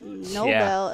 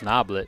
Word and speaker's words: Noblet: What a touch from Nobel. Yeah. I believe I'm saying her name wrong, but how do you say it? I believe it's Noblet.